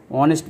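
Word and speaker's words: honest: হবে mister Sen ইজ অনেস্ট man mister Sen একজন সৎ মানুষ তাহলে এন অনেস্ট হবে কারণ এইচ এর উচ্চারণ হচ্ছে না অনুচ্চারিত এইচ এর আগে এন বসে তাহলে এখানে অ্যান অনেস্ট ম্যান হবে অমল ইজ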